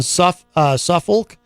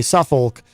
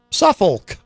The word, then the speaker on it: Suffolk: Gen X Radio said in a news release, Gough was presenting the show from his home in Suffolk. I know you're not really supposed to pronounce the L, but I'm just afraid.